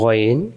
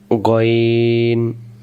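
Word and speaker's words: غ: আমরা গাইন গাইন পড়ছিলাম আজকে থেকে আমরা এই অক্ষরটাকে কখনো গাইন বলে উচ্চারণ করবো না অক্ষরের নাম আমরা কি ধরবন গন পেশ গনজের গি গু গি গন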